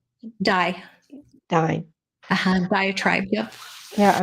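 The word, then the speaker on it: Diné: And basically, she was from the Navajo tribe, but they pronounce it is now called Dye.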